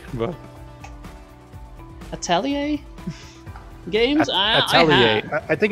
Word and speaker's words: Atelier: you if you look on Google it's uh Atelier I tell you yes for the American pronunciation at least and the